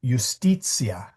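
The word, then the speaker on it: iustitia: So, um, the word justice in Latin is ustitia. The I there is the consonant I.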